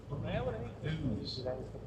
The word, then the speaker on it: Ouse: Ooze. That's pronounced ooze because it comes from the old Celtic word "uzza," meaning water. There are 5 River Ouzes